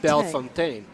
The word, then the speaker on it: Bellefontaine: name correctly, which is Bellefontaine. Bellefontaine. Yes, which is good because I have been mispronouncing it for years. That extra little E in there kind of threw me off.